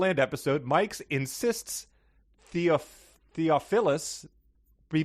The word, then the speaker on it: Theophilus: from greek to english that first character is a theta that is pronounced with a th sound and most definitely not a hard t what's more the first